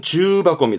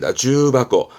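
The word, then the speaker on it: 重箱: 여러모로 쓰긴 합니다만 지금은 중복의 중자 그든 그래서 발음은 주 바고 주 바고 주 박고는 이거예요 그 벤또 있죠 도시락 차압요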